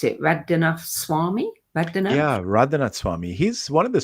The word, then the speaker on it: Radhanath: How do you pronounce it? Radhanath Swami? Radhanath? Yeah, Radhanath Swami.